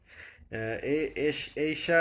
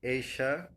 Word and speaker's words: এইশা: এইশা আরসি লিখেছেন, স্যার আমার নাম এইশা, এশা নয়। সরি, আমি খুবই দুঃখিত। এইশা, এবার কি উচ্চারণটা ঠিক হয়েছে?